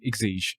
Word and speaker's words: Exige: You have been a great advocate for it, so Exige, and I don't even know how to say the firm. I'll step in and say Exige.